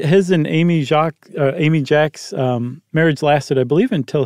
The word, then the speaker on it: Jacques: that was he married Amy Jacks spelled like Jacques who was a Kingston